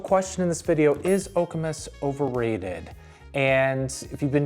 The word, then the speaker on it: Okemos: Is Okamus overrated? And if you've been doing your research, first of all, you pronounce it okamus, not okimos or okimos.